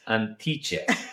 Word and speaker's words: Antiche: Antiche. I won't say it right if I Antiche. It's Antiche. Antiche. Okay, Antiche. Antiche.